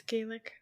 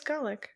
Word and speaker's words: Gaelic: pronounce Gaelic yeah it's Gaelic oh no it says Golic what it says both of them it says both of them oh so both are right okay yeah it's either